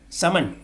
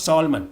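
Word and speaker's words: salmon: social not social social summon s-a-l-m-n summon not solomon summon and lastly thumb and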